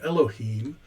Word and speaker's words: Elohim: in the original recognizes their a problem it's pronounced elohim and here's the problem let me see if